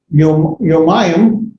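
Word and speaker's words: יומיים: You can have yomayim, it's like yomama. Yomayim would be 2 days. Notice if you look at the far bottom left corner, yom, and the top dual right corner, yomayim, you have the diphthong there.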